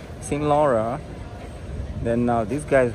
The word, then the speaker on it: Saint Laurent: Yeah, I think that guy just said it right. He's French. He said Saint Laura. Saint Laura.